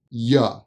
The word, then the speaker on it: you: You is generally pronounced as ya, ya, ya, ya.